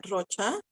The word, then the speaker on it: Rocha: I try to say it in English, and then people always say, like, you should have your accent in Spanish. It's in Spanish. And I'm like, but anyways, but Rocha, it's spelled Rocha is